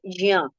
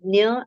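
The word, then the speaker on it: ज्ञ: But then, the perfect pronunciation is Jya. J half and Ya complete, right? So jya, if you try to recite this jya, if you practice this jya, it is not very difficult. By practice, you will get the pronunciation, right? But then if you cannot, then nya and gya are accepted.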